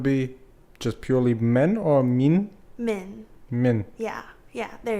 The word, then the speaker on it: Min: But the proper pronunciation would be just purely men or min?